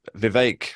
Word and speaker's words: Vivek: point earlier Lisa that Vivek rhymes with cake and many other words